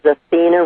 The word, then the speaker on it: Athene: no problem at all it is Athena the first name is spelled ATH hmmmm instead of with an A on the end and is so just a little differently because it's ra e f like in fact IE L instead of like the